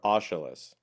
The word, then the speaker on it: Aeschylus: And I think that's the Greek philosopher Aeschylus. That's good pronunciation, Dan.